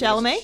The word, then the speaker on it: Chalamet: pronounce- Chalamet?